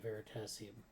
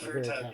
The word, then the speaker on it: Veritasium: way, but it's the great YouTube channel, I can't remember how do you actually pronounce it now. It's like Veritasium. Oh yeah, Veritasium. It's Veritasium.